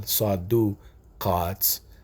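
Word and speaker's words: صدُقات: sound on the D letter, or the del, saduqaat, that's 1 time in the Quran. So the fact that this word is pronounced one way 8 times, sadaqaat, and pronounced differently 1 time, there's a meaning in that.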